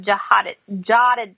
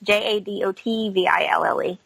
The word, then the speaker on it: Jadotville: So yeah, it's Siege of Jadadville. So it's Jadotville.